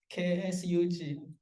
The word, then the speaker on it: K8SUG: And also we're going to have a K8SUG So if you don't know how to pronounce it, K8SUG, Kubernetes User Group, I say the K8SUG, okay?